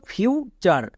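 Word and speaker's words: future: long sound তার মানে ইউ এর লং সাউন্ডটা ইউ এর মত হবে তাহলে কি দাঁড়াবে এফ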